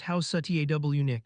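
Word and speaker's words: Housatonic: Out on the water, the Union warship USS Houseonic pronounced House Satwick sat at anchor as part of the blockade.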